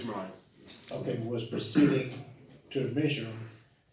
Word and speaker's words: Ishmaelites: And Joseph heard that the Yeshua, I can't pronounce those words yet. It's Ishmaelites.